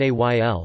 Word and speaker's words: éél: are formed by adding the ending al, pronounced ayl, to the cardinal number.